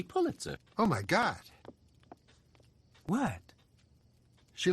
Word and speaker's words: Pulitzer: here's an interesting fact although many people pronounce it piter the correct pronunciation is actually Pulitzer oh my God what